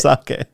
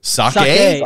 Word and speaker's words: sake: of Tsushima and then proceeded to call it sake. Is that not how you call it? Is that not what you say? Is it not sake? It's sake. Sake.